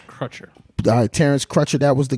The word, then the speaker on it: Crutcher: I'm not familiar with how to pronounce it. It's Crutcher.